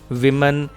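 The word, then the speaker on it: woman: These विमन have no jewellery. These विमन have no jewellery. Dear students, singular अगर हो औरत तो उसकी प्रोनाउंसिएशन होती है वुमन, और अगर प्लूरल हो तो विमन।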